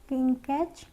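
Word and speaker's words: catch: CH अगर साथ में है तो टी साइलेंट है। कैच में भी हमारा सेम है, कैच।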